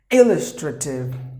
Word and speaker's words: illustrative: In this word, letter L is silent because if there are 2 consonants together, one of them will be silent. So one is gone. So illustrative. E should be given more volume. So there are 4 syllables and the stress is in the beginning.